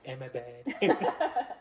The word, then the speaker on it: Ahmedabad: Yeah, It's I just think he was quite at like the Ahmedabad or something stadium. It's like Ahmedabad.